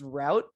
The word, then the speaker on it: route: can you explain that it's pronounced route you see the the o and the u pronounce to an ow sound so that that's where